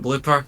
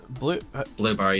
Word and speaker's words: Bloober: Because I'd like to make a public apology to Team Blooper, because I think that's how you say it, yeah. Isn't it Bloober? Bloober, yeah. Yeah. I keep wanting to say Blooper, but...